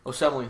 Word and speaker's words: Osemele: Our left guard is Kelechi Osemele. I think how you say his name. Kelechi Osemele. Osemele, there you go.